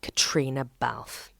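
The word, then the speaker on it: Caitríona Balfe: emmy nominated four times it is of course katrina balf and yes that is how you say it before we pop into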